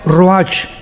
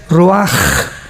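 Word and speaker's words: ruach: h, que se pronuncia roach, pero en el hebreo es roaj. La ch en el hebreo es como J.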